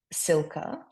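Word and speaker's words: Cilka: It's an unusual, it's a very very old name, Silka, which is spelled c i l k a.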